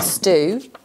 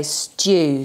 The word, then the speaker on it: stew: So I know some people would say stew, some people say stew. So just so that you are aware that there are two different ways of pronouncing that digraph, the EW digraph.